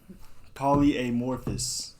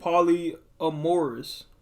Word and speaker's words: polyamorous: Polyamorphous. Where you get the F from? I bet that's how you say it. Polyamorous. Are you dumb?